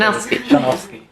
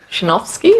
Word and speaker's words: Shanovsky: The first 4, it's a SH instead of the first 4 letters. Shanovsky. Shanovsky or Shanovsky? W is pronounced as a V.